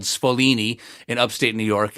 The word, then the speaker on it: Sfoglini: able to team up with a company called Sfolini in upstate New York. It's spelled Sfoglini, to manufacture it.